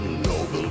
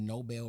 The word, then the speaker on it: Nobel: It's so crazy how it is just Nobel Prize, but we pronounce it Nobel Peace Prize, but we won't say, oh, he's such a Nobel man. We just say he's a noble man.